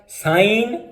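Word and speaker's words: sign: साइन और फैन। इसी तरह हम देखते हैं कि GH ये कब साइलेंट होगा?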